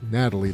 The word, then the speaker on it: Nathalie: Rod brings his girlfriend Nathalie, pronounced Natalie this time.